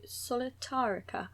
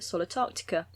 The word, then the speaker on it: Solitairica: in love with recently i did spend a lot of time thinking it was called something entirely else because i'd added new letters and was calling it solitarctica which sounds like a new continent